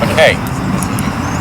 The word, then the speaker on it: Mackay: Second Sergeant Mackay. Here, First Sergeant. Did I say it right? It's a Scottish way of saying it. McKay.